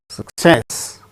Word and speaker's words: success: be acted as teacher success with stress on second syllable success recommend third syllable